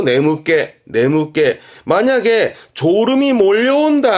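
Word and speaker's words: 眠気: 발음은 네무깨입니다. 특히 조심할 거 네무깨.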